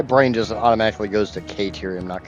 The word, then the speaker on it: Caterium: I don't I like my brain just automatically goes to Karium, not Caterium.